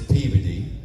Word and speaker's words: Peabody: Like, don't go to Peabody, Massachusetts. Peabody. It's Peey.